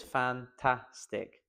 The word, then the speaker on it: fantastic: This video is fantastic. Fantastic. Fantastic. Fantastic. It's the middle one.